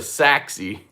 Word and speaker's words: Seax: It's spelled like SEAX, like a Sax knife. So it's really the Saxy.